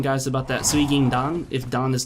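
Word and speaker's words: 水銀弾: I believe that right there is pronounced suigindan. Correct me if I'm wrong. I know it's suigin, which is basically silver or mercury, quicksilver or mercury. And dan, I believe, is how that character is read when it's attached to specifics of a bullet.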